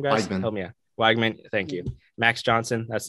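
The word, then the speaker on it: Weigman: Wigman, thank you.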